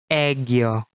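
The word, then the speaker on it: 애교: This is read as Egyo. This word is always used in Korea as a popular expression to show cuteness, affection, or closeness to families and friends. One more time. Egyo, Egyo, Egyo.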